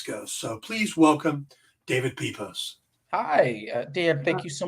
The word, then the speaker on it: Pepose: name right so uh it's pronounced pepos but I never get mad at anybody saying peos or poosy or it's an occupational